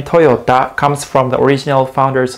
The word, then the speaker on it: Toyota: But in Japanese, we pronounce it Toyota. Toyota. The company name Toyota comes from the original founder's last name, Kiichiro Toyoda.